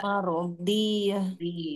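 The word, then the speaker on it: مرضية: Huruf dhad itu beda dengan huruf dal. Nah, perhatikan ini. Cara membacanya harus beda. Mardiyah. Jangan sampai kita bacanya Rabbiki rodi.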